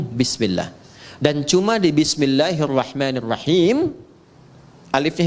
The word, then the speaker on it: bismillah: Asalnya bismillah. Dibaca nyambung bismillah.